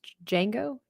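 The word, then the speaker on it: Django: Pronounced Jango. Jungo. So the D is silent.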